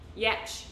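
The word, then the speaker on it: Giertz: It starts with it's like G-I-E-R-T-Z or something, but it's not pronounced like that because it's Swedish. It's like Yertz, Yitz, Yetch, Yetch, Simone Yetch. I think that's how you pronounce her last name because she has the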